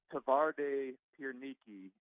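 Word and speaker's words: Twarde Pierniki: know but what w's are pronounced w's are pronounced B so it's tavar de pere Niki and one of the things the town is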